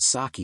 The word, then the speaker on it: sake: screenshot of Webster's Dictionary showing that saki is an accepted variant of pronunciation love when English changes